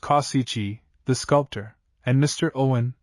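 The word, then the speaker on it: Causici: Cooper, the celebrated author of the popular American novels, Mr. Kauisai, pronounced Kyichi, the sculptor, and Mr.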